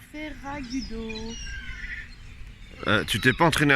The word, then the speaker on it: Ferragudo: Nous sommes à Ferragudo. Tu t'es pas entraîné à le prononcer celui-là. Ferragudo. Non, je sais pas. Ouais, c'est Ferragudo quoi.